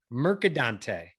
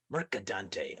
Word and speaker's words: Mercadante: of the people so that that's great so pronounce it like it's meant to be said merad Dante merad Dante love it we had a great interview about